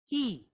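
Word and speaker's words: כי: So this word is pronounced ki, like what you use to open the door with, okay? Ki.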